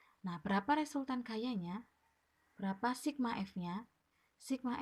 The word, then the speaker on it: Sigma: gaya pengganti atau gaya total itu dilambangkan dengan Sigma X seperti ini Ini bacanya Sigma ya Sigma F berapa resultan gayanya